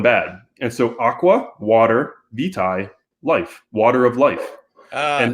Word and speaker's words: vitae: the facility and said, actually, in North America, it's vitae. It's VT in the UK. In Britain, they would say aqua vitae. In North America, our pronunciation of that Latin word is vitae.